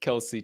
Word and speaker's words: Kelce: I specifically pronounced it Kelsey tonight.